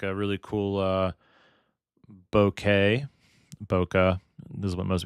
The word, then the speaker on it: bokeh: Bokeh. This is what most it's actually pronounced bouquet according to Japanese people.